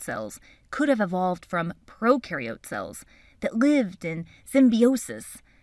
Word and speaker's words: prokaryote: Prokaryote symbiosis means these organisms live together. So just to recap from our Intro to Cells video, when you think of prokaryote, think of pro rhyming with no nucleus, no membrane-bound organelles.